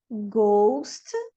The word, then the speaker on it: ghost: O H, ele não vai ser pronunciado na sequência GH. And in the word final position. Aqui, ó. Ghost, ghetto, aghast, ghastly.